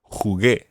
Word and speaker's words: jugué: football, you would say Jugué. jugué al fútbol. And what would happen to the jugué? You would need a UE. Exactly. You would spell that Jugue acute. Jugué. Jugué. But the U is silent in there.